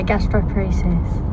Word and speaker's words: gastroparesis: you suffer from something sick Castillo paresis yeah gastroparesis I pronounced it right yeah yeah brilliant and what